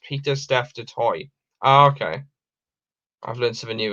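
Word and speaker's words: Pieter-Steph du Toit: outside of south africa peter staff detoi is pronounced peter steph de toy okay i've learned something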